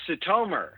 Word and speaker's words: Sitomer: for having me sir it's satomer that's how long i changed my name's pronunciation since we left oh look actually uh